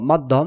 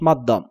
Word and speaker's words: মাধ্যম: খ এ আকার পরীক্ষা মহাপান দ এ জফলা থাকলে তোমাকে লিখতে হবে অল্পপান দ এ হস এবং মহাপান দ ম আকার ধ জ ফলা ম মাধ্যম তোমাকে উচ্চারণে লিখতে হবে ম আকার অল্পপান দ এ হস এবং মহাপান দ ওকার ম এ হস মাধ্যম দন্তস আকার ধ জপলা